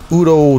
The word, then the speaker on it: Udo: got about a 40 original except lineup in udo's band Udo as is supposed to be pronounced right so anyways uh awesome maybe we